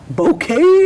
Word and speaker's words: Bokay: shout out to you it's called bouquet but it's spelled uh how is it spelled b o k a y bouquet does that b b